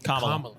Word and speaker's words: Kamala: okay and sorry so I get the right pronunciation what is it Kamala Kamala I've definitely been a Kamala guy I've gone